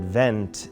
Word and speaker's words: vent: And vent in French, you pronounce it vent, and it means wind.